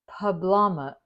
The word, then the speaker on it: poblano: These are now called unstuffed poblano. Poblano. I asked Siri how to say it, and they had a lady on there saying Poblano. So that's how we say it, when we can say it.